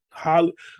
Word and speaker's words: Halle Berry: Holly, I gotta say her name right because I'll say it's Holly Bailey.